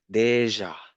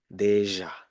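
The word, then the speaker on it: déjà: The last one is more difficult because you need to com you need to link the d the e sound make it smooth enough and combine with the j. Yeah. So deja deja.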